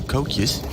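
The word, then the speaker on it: koekje: it's close and some dutch easter cookies or cocuz as they call them okay that all right okays is that how they pronounce it yeah it's like k-o-e-k-j-e tokyo fair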